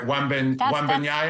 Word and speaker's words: Wembanyama: And Wembanyama, or however you say his name, right? Wembanyama. That's exactly how.